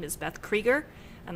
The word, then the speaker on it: Krueger: my name is beth krieger and the last name is spelled k-r-u-e-g-e-r so it looks like freddy krueger that would be a